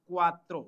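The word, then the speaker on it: cuatro: ई एन टी ए नवता ई four is क्वात्रो सी यू ए टी आर O four क्त्र नवता ई क्वात्रो means 90 एंड फ नवता ई क्वात्रो 9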